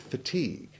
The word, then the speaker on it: fatigue: from the verb intrigue this does not happen with fatigue which always keeps the stress on the second syllable whether used as a noun or a verb english pronunciation is endlessly